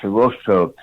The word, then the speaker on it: Hirohito: It's pronounced Hirohito.